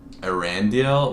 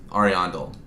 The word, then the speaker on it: Ariandel: Arandel? What's it? Hold on. Ariandel. Painted World. Ariandel. That's, I guess, what it's supposed to be pronounced as. Yeah, because the dude's name is Ariandel.